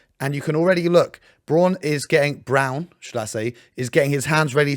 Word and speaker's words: Braun: As you can see, Christian Brown, even though his name is spelled Braun, I don't know why it's Brown, comes all the way